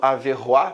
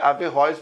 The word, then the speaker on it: Averróis: por fim averróis que muita gente acaba falando a ver o a pensando que é um termo mais francês mas a pronúncia averróis mesmo ele vai fazer uma